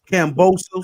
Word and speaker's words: Kambosos: How do you pronounce the other guy's name? Kambosos. Cambosos, yeah.